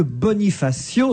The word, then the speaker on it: Bonifacio: Dominique me dit que AIO se prononce comme accident et que Bonifacio se prononce comme incident et qui je ne dois